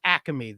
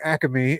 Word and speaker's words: Acme: pick and choose you can't do that with acame though I feel like you should they only say that yeah they only say that that extra syllable in the Delco region why are you using